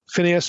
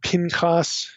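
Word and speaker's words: Phinehas: should mention Phineas okay that's the way most of us would pronounce this Phineas or Pinos in Hebrew this name is also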